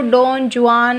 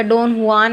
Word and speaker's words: Don Juan: तो ये जो डॉन जुआन है या डॉन हुआन है, सही प्रोनाउंसिएशन तो डॉन हुआन है, ये एक लॉन्ग पोएम है।